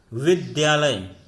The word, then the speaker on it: विद्यालय: हमने, शुद्ध रूप है, लेकिन उच्चारण करते समय बहुत सारे लोगों को विद्यालय सुनता, विद्यालय उच्चारण करते हुए सुना होगा, विद्यालय विद्यालय, तो ध्यान न होकर के द्या होता है।